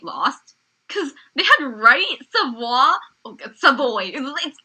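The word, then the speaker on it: Savoie: I was kind of surprised that Team White lost because they had Wright, Savoy. It's Savoy. It's Savoy. It looks like Savoy. I say it like Savoy. It looks French.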